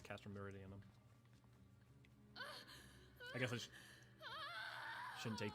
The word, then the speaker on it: Castrum Meridianum: Be so kind as to deliver the prisoners to Castrum Meridianum. Yes. Oh, hey, I've been saying it right. It is Castrum Meridianum.